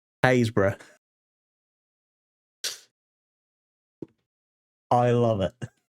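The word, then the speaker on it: Happisburgh: Most people go Habisburg. That's how you pronounce that. Hisburg. No, no, no, no, no. That is pronounced Hbra.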